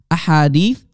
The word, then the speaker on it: ahadith: five more cell ahadith hadith singular hadith multiple hadiths that's how you say it in arabic ahadith multiple singular hadith a hadith so there are around